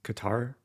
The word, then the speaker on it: Qatar: name of this country it seems like the typical English way of saying Qatar is Qatar so I think I'll